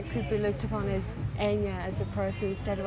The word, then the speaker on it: Enya: It's Enya. It's Enya, but it's Enya.